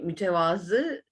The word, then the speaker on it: mütevazı: konusunda konuşacağız buyurunuz Efe genellikle yanlış telaffuz edilen sözcüklerden biri ben her zaman bilmiyorsanız bir Sözcü bildiğinizi kullanılan diyorum Nitekim dil ile ilgili herkes de söylüyor bunu mütevazı Evet doğrusu tevazudan yani mütevazı o Arapça bir sözcük ve tevazu leden yani